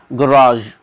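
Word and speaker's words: garage: एक सेकेंड, ये हो गया गराज, गराज। एक होता है दोस्तों गराज, गराज, ठीक है, उसका भी इसी प्रकार से प्रोनाउंसिएशन रहता है, रे ए बड़ा आ गया,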